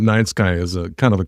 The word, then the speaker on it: Nyte Skye: have the perfect name she was just like night sky and I was like night sky and she's like yeah but spell it with his name and then half of your name and I was like